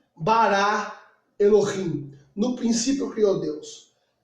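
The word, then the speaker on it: אלוהים: Em hebraico se pronuncia Bereshit bara Elohim.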